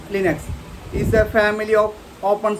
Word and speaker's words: Linux: Linux, pronounced Linux, is a family of